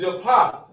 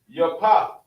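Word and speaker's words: יפת: And the way you say his name in the Hebrew is Yapah. Yapah.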